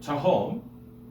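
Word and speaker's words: תהום: Tahom, I'm reading here on the left, is an example of a Hebrew word accented on its last syllable. Tahom. Everyone say tahom? Tahom. Right. It has two syllables. The first is not accented, the second is. Okay?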